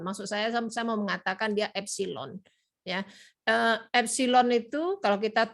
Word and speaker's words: epsilon: Nah, nanti kalian ceklah di Google gimana cara nulis E itu, tapi bacanya adalah epsilon. Maksud saya mau mengatakan dia epsilon.